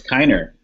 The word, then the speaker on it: Keener: Is your last name pronounced Keener or Kiner? It's Kiner. Kiner, I'm sorry.